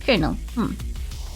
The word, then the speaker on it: colonel: the r um so in modern english it's pronounced kernel you gotta get yourself